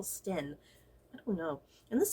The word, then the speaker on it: Sten: like in the past i have pronounced her name camilla stein but i just realized there's like no i in there like that would be pronounced stein so i think it's camilla sten i don't know and